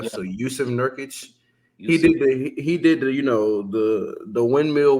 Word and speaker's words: Jusuf: I think his name is Yusuf because it's spelled Jusuf. So Yusuf Nurkic.